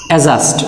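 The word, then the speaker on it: adjust: সো টু অ্যাডজাস্ট, এখানে ডিটা উচ্চারণ হবে না, অ্যাডজাস্ট উচ্চারণ হবে এখানে অ্যাডজাস্ট।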